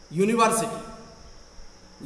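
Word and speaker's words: university: शुरू होता है, लेकिन इसका प्रोनाउंसिएशन हिंदी वर्ड, हिंदी शब्द, हिंदी अक्षर या से होता है. माने इसकी ध्वनि, इसकी आवाज कॉन्सोनेंट साउंड से है.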